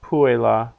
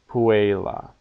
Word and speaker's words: puella: the last word la that e is long because it comes before Double L so it's not Pue la it's Puella and this is often a word that's really kind of pronounced Puella as if it only had two syllables but still all right